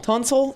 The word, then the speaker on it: Tunsil: Is it Tunsil? Did I say it right? Tunsil?